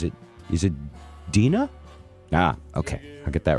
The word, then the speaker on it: Deana: uh oh I'm getting into told that she pronounces it is it Deena ah ok I get that right this song